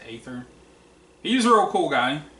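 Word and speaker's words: Aether: third it could be ether but i pronounce it eighther he's a real cool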